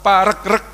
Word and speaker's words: Paregreg: tanya ke beberapa ahli yang betul itu dibacanya Paregreg apa Paregreg ternyata yang bener dibacanya Paregreg karena regu regu ya ini menunjukkan perangnya itu enggak selesai-selesai karena kesini menang jok